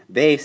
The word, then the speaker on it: base: we're talking Spanish here base is actually spelled the same in Spanish you just have to say it different Bas all right so here